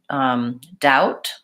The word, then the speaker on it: doubt: doubt I doubt it the word doubt when I say it by itself I will say the T sound when I say I doubt it I doubt it what I do is I'm linking there so I don't want to I don't want it to sound like the T is missing altogether I don't want I